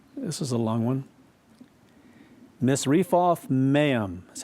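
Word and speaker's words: Misrephoth-maim: Zidon, and into, this is a long one, Misrephoth Maim, that's how it's pronounced, and unto the valley of Mizpah, eastward.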